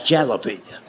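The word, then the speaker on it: jalapeño: That's jalapenñ." And I made the mistake of trying to explain that to him. I said, "I know it's a J, but it's pronounced with a H.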